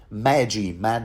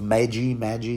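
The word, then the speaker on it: maegi: lands the presence of magic is that I would I give up on the pronunciation Magi that's it that's how I will pronounce it same title as you know the three wise Kings so yeah there seems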